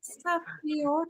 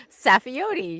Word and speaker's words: Saffioti: We have with us a special guest joining us today, Miss Safi. Did I pronounce that correctly? I think I may have. I may not have it correctly. Safiote.